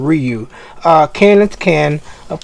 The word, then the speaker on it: Ryu: K and Ryu uh I know people pronounce it rayu uh in the US in the Japanese they they they pronounce his name Ryu uh Ken is Ken